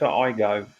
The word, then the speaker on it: Aygo: A Toyota Igo X.